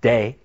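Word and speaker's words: δέ: that it's it's pronounced day and day sounds like day or night right but it's uh delta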